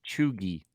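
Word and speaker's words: cheugy: we can both be filled in because it's pronounced chugi chugi it's an American created in 2013.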